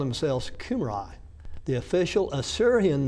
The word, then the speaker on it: Cambria: Sir John Rhys, both countries, speaking of Wales and Britain, of the Cumri, were for some times called Cambria, pronounced as if spelled Cumri.